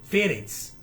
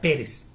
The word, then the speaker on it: Pérez: haga como la casa de Fedex que en realidad se pronuncia Pérez así como mi apellido